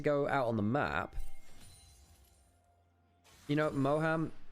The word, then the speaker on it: Moham: Moham, the way that I pronounce it is Moam. It's very, very English, it is. But, it reminds me a bit of Mawam, the sweets.